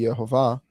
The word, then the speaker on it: Yehovah: So I think if we go with the Jewish pronunciation of letters currently, where the Vav is a V sound, then it would be Yehovah.